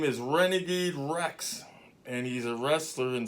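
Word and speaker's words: Wrex: Renegade Rex, and it's spelled W-R-E-X.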